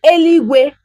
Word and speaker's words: eluigwe: Na mmalite Chineke kere eluigwe na ụwa. So na mmalite, in the beginning, God created eluigwe, heaven na ụwa, and earth.